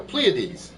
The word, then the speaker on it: Pleiades: Pleiades, there we go, Pleiades.